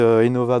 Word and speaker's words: Innova: Aimez Innova bien comme innovation.